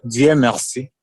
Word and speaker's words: Dieumerci: yes you are right that's that's one is GM Mercy yes okay here we are pronouncing it okay your English is very good